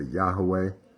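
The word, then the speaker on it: יהוה: I believe that the vowels, based upon my studies, is the Sheva, Olam, and Kamatz. Okay. And that's how I pronounce it. I pronounce it other ways because I want everybody to feel included. I might say Yahweh. I might say Yahuwah. I might say Yahovah, but I believe it's Yehovah, okay, based upon my study.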